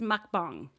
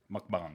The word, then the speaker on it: mukbang: first I think it's mukbang mukbang yeah like a bong yeah yeah so it's